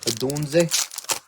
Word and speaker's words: Odunze: Am I saying it right? Is it Odunze? Sounds great.